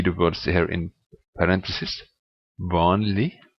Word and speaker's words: vanlig: Vanlig, merkelig. The next is silent letter is the letter T in definite nouns.